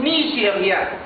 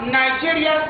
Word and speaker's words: Nigeria: C'est Nigeria, pas Nigeria c'est anglais, mais Nigeria c'est français. Nigeria, le Nigeria, ça veut dire Nigeria. On doit savoir comment prononcer les mots en français. Nigeria, pas Nigeria.